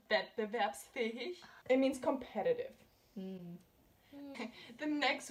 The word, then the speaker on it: wettbewerbsfähig: So it's pronounced wettbewerbsfähig.